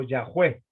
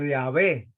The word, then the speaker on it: Yahweh: Así es lo que se puede pronunciar más o menos en hebreo, Yahweh o Yahvé, como hay en alguna de nuestras traducciones.